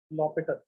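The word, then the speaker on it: L'Hôpital: चलो काफी तपस्या के बाद अब चालू कर देते हैं लॉपिटल रूल। एल हॉस्पिटल भी लिखते हैं कभी कभार, लॉपिटल भी लिखते हैं, प्रोनाउंस तो ऐसे ही करते हैं। प्रोनाउंस कैसे करते हैं? लॉपिटल, ठीक है?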